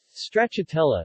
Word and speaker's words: stracciatella: stretch atella Italian pronunciation strata - law is a variety of